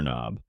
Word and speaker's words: knob: This thing here is a door knob. A door knob. Yes, the K and knob is silent.